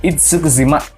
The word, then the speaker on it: Itsukushima: berada di negara Jepang tepatnya di kota itsukushima bacanya gitu kan itsukushima dan Aturan ini kabarnya